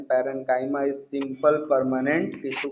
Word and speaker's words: parenchyma: पैरेन्काइमा is simple permanent tissue का पहला type.